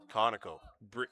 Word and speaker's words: Conoco: Thank you to those who confirmed the pronunciation in the chat. If we're still saying it wrong, which is a possibility, you always let us know. Yeah, nice play there.